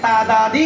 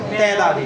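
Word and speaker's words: تعدادی: দেখেন এটা কি উচ্চারণ তাদাদি না তেদি এই খেয়াল করছি আমি উচ্চারণটা কি তাদাদি নাকি তেদাদি দেখেন শুদ্ধ উচ্চারণ হচ্ছে তাদাদি মানে তাদাদি শুদ্ধ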